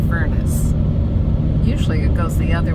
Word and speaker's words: Furnace: Although I did He's trying to be, I don't know, French or something, and calls it Fernacci. Fernacci Creek, and it's Furnace.